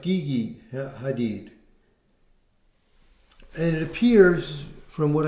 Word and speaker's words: Gigi Hadid: can tell, he was dating, I guess it's pronounced Gigi Hadid.